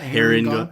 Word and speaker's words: Harengon: Your Harengon for specifically how to pronounce that. Harengon.